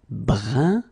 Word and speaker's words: brun: Then another example, brun, brun, okay, fin, brun, fin. So you write it differently, but then you pronounce it like the first one.